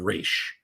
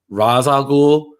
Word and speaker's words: Ra's al Ghul: I was calling them Raish. And yeah, exactly. And then I remember the Batman animated series. They were like, no, actually, it's Ra's al Ghul, the common mispronunciation.